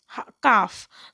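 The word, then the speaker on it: calf: है तो वह है काफ काफ में जो एल है वह साइलेंट है इसके बाद हम देखेंगे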